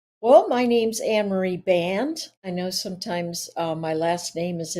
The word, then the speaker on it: Band: Well, my name's Anne Marie Band. I know sometimes my last name is in there, and people go, "How do you say that name?" But it's Band, like rubber band.